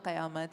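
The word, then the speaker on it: क़यामत: कयामत क होता है क के नीचे नुक्ता तो कयामत ये सारी चीजें हैं।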